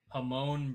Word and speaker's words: Jamon: I'll go with my left guard, Hamon Brown from the Rams. It's spelled Jamon.